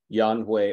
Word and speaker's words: Yan Hui: Both are actually correct. No, Yan Hui or Yan Yuan. Both were correct.